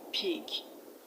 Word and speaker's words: pig: Now the correct answer to this question is option B, pig. Pig. Village. The A in village is pronounced E.